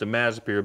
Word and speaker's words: imazapyr: If we need to spray it in the spring, you're gonna need to use, it's pronounced imazapyr, but it's spelled Ima-zapper.